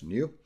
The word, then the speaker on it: GNU: new parameters that is GNU again pronounced a new page 91 the very